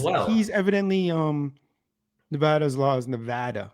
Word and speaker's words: Nevada: he's evidently Nevada's laws, Nevada. That's how they say it, not Nevada.